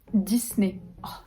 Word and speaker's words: Disney: et indices justement dit disney mais en vieux 10 disney oui ça va 10 comme 10 mai comme le nez disney un j'ai vu